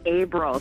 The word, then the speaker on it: Abrell: is it aell yeah it's Abel so like April the month ah April there we